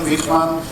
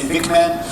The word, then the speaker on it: Wigman: that's important because Willem Wigman, also pronunciation is not so important. You might say Wigman, but Wigman is his original pronunciation.